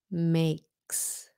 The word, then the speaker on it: makes: Make. makes, S sound, makes.